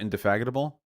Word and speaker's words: indefatigable: Wait, is it not indefatigable? Is that not how it's pronounced? Wait. Wait, how is it pronounced? Indefatigable. Oh, I switched the D and the G.